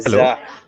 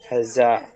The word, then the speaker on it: Hazza: Sir, you And are till today, pronouncing the name wrong. It is hello. Hazza. Hazza.